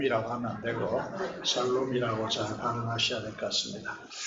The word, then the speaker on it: 샬롬: 나니 넘 실기를 축복합니다 이럴 보세요 그것을 한마디로 살롬 이라고 알아줘 c 않고 마찰로 이렇게 해서 하시면 좋겠습니다 그 발음을 잘 하셔야 됩니다 사람은 몹 이라고 하나 내고 샬롬 이라고 전하는 하셔야 될것 같습니다 이제 다음 으